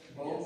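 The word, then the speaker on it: Bod: So, both Wybanga and Brad. And it's pronounced Bo, even though it's spelled B-O-D.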